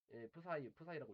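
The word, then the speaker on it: ψ: 왜 문제가 없냐면은 이제 확률이라는 거 양자역학에서 확률이라는 걸 어떻게 계산하면은 이제 파동함수 푸사이라고 읽어요.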